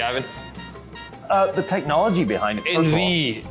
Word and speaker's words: Envie: Envie, E-N-V-I-E. Yeah, envie, which means in French to be alive.